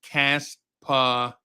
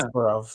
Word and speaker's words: Kasparov: Wiz says it's pronounced Kasparov. Yeah. Kasparov, yeah.